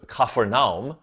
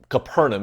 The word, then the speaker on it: Capernaum: right to Peter's house if you've been to kafernam or Capernaum is how we typically pronounce it you've probably seen both